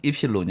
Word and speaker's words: 입실론: 입실 너는 여기 이제 그리스 혼자로는 입실론 이라고 읽고 아 뜻은 변형률 입니다